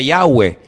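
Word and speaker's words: Yahweh: y he Bad he verdad ese nombre se pronuncia yahwe Ese es el nombre que aparece en el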